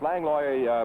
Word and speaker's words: Langlois: Langlois in the white trunks. Langlois prefers that pronunciation of his name.